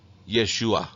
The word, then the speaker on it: Yeshua: Yeshua.